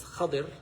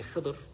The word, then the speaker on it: Khidr: And by the way, the pronunciation is Khidr. I know a lot of people say Khidr. It's a little faster, easier to say Khidr, I guess. But Khidr is the proper pronunciation.